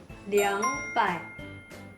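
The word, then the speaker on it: 两百: 2 untuk ratusan ke atas pakai liang. Ya, betul. Jadi liang pai.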